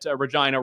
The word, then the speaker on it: Regina: of the fact that Regina rhymes with vagina as a tourm tourism